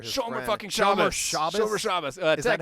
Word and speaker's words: Shomer Shabbos: Shomer Shabbos. Is that how you say it? Shomer Shabbos.